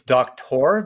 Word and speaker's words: Doktor: Did I pronounce that right? It's Doktor, but it's okay.